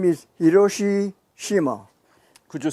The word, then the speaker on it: Hiroshi Shima: what is your name sir my name is hiroshi shima could you spell it first name h i r o s